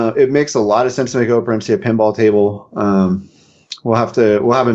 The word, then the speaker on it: Operencia: Am I pronouncing that? Is it Operencia or Operencia? It's Operencia.